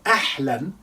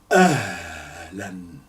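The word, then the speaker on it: أهلًا: Now, ahlan, this H, this time is representing this letter, which is ha. That's a soft H. So you don't say ahlan, la, because you're pronouncing this.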